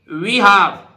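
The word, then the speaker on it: behalf: भाई इसी तरह देखिए ब हाफ बी हाफ एल नहीं बोलेगा ब हाफ उस मतलब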